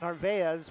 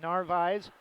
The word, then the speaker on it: Narvaez: It looks like it should be pronounced Narvaez, but Narvaez, Narvaez.